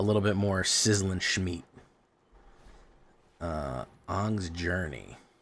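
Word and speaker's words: Aang: That's pronounced an by the way. I don't want to hear Oh. Oh, it's Jay. It's Ang. No, it's Ang. I saw the movie. They say an in the movie, man.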